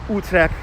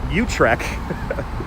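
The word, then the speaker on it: Utrecht: this was called nut I'm trying to pronounce utre like a Dutch person most of us brooklynites call it utre new utre it's new UT and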